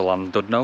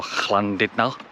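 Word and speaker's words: Llandudno: We're going to go to Landno or Clandid. Sorry if you're Welsh. I need to I am trying to learn a bit of Welsh and Welsh pronunciation cuz I come here a lot. So, sorry if I've got that wrong. Wlando is I think the correct pronunciation. But Landon though is fine, I think.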